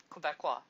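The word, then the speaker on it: Québécois: Quebecies? That's right, Quebecois.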